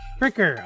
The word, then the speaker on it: Friker: Is it Frier or Fricker? I was like Fricker. Fricker.